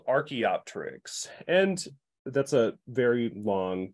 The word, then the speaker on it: Archaeopteryx: So archae is ancient, and the pterix with the silent P, you can think of like pterodactyl, has a silent P at the beginning, PT.